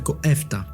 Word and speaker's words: EFTA: The year 1960 brought a significant change to the European economic landscape with the creation of the European Free Trade Association, known phonetically as Efta.